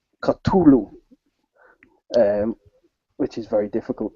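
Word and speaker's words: Cthulhu: Lovecraft people will do the proper lovecraftian pronunciation of culu um which is very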